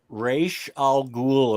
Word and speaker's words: Ra's al Ghul: the whole revelation of Raish. I never know how to pronounce his fucking name. Ra's al Ghul, apparently, according to Batman the Animated Series.